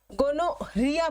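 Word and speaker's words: gonorrhoea: Number 1 पे, गोनोरिया, गोनोरिया पढ़ते हैं इसको, ठीक है। जैसे डायरिया की स्पेलिंग होती है ना HOEA, वैसी तरीके से गोनोरिया की स्पेलिंग में HOE होती है।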